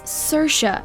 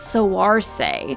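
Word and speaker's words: Saoirse: heads with her name as you heard it's sercia not soar say admittedly this one isn't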